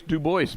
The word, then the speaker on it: Dubois: No, it's Dubois because it rhymes with Quick Draw. It would be Quick Joyce Dubois, but if it was that, but it's not. It's Quick Draw Dubois.